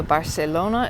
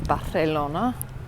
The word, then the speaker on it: Barcelona: Celia Soso okay so the C is pronounced like a th so Barcelona is Barcelona I did use I